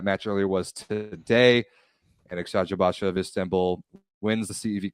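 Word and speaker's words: Eczacıbaşı: Edzajabasha is, I believe, how it's pronounced.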